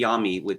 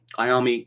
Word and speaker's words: Iommi: If it were pronounced in the Italian manner, it would be Iommi. But sorry, Tony Iommi, that would sound ridiculous, right?